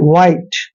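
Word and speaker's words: white: अब यहां पर देखिए डब्लू एच आई टीई यहां पर देखि डब्लू एच को हम व पढ़ते हैं व ऐसे व ठीक है और आईटी को आइट पढ़ना है वाइट वाइट वाइट मीन सफेद होता है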